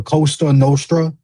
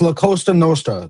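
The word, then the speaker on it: La Cosa Nostra: Don't be disrespecting my my Italian my my fellow Italians like that saying the Costa Nostra. It's La Costa Nostra. That's how you say it, jackass.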